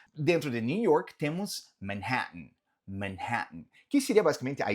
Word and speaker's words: Manhattan: E falamos, nota que esse dois T's, ele comumente ele não é pronunciado de uma forma tão marcada. Não é que a gente fala Manhattan. Normalmente o T ele vem aqui de uma forma mais gutural, aqui na garganta mesmo. Manhattan, Manhattan, Manhattan.